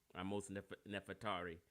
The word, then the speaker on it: Ahmose Nefertari: Goro, you corrected me if I pronounced her name wrong. Excuse me. Ahmose Nefertari.